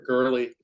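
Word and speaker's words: Goerli: And I'm just curious, is it Gorilla or Gorelli? How do you pronounce that? Girly.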